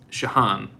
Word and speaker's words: Shihan: But this is from, gosh, there's no way I'm going to be able to pronounce this. Piotr space CZARNECKI. Okay? It's Shahan EDP. Shahan.